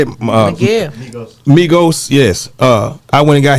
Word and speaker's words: Migos: Listen, I went and got Miho them. How you say it? Yeah. Migos, yes.